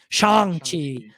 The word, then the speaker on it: Shang-Chi: And then, not to mention, we have Shang-Chi that's also coming, or Shang-Chi, they pronounce it pretty vocally in the trailer, Shang, so I gotta say it right, Shang-Chi.